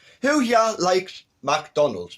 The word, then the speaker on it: McDonald's: scottish and ivish and it is pronounced mac not make a book so there's